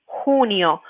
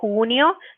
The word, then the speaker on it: junio: El 20 de, and the one for June is junio. Junio. So make sure when you're pronouncing this one, junio, that you're saying the h sound.